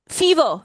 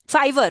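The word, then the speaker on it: Fiverr: फीवर फीवर फीवर फाइवर फाइवर फीवर, जो भी इसका फाइवर फाइवर है, प्रोनाउंसिएशन है, जी हाँ जी फाइवर, हाँ जी।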